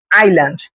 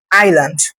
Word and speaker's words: island: আইসল্যান্ড স্পেলিংটা কিন্তু আইসল্যান্ড, কিন্তু উচ্চারণটা হবে আইল্যান্ড, আইল্যান্ড। fish near the island?